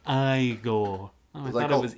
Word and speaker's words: Igor: It's pronounced Igor. Oh, I thought it was Igor.